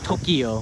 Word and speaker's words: Tokyo: same people are saying tokyo which is actually tokyo two syllables so there take this